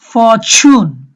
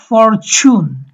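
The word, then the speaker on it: fortune: Sheep, ফরচুন, ব্রিটিশরা এটা ডাইসিলেবল, এই প্রথম সিলেবলের শুরুতে যেহেতু আর আছে, এই আর এর উচ্চারণটা হবে না, তাহলে ব্রিটিশরা বলবে ফরচুন। ইউএস অ্যাকসেন্টে হবে ফরচুন।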